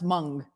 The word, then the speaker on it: Hmong: and all the things oh they're pronounced mung thank you rebecca the hmong